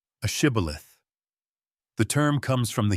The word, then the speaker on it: shibboleth: The Gileadites knew that the Ephraimites' dialect lacked the sh sound. So they made every man who tried to cross say the Hebrew word shibboleth, which means an ear of corn. The Gileadites could pronounce the sh-o perfectly. The fleeing Ephraimites, however, could only manage sibboleth. That single, mispronounced consonant was a death sentence.